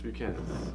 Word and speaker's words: Buchanan's: There's a lot of debate on actually how to pronounce it in the bars with the Hispanics and the white people. Yeah, there shouldn't be because it's fucking Irish. I don't know. Exactly. So it's Buchanan's.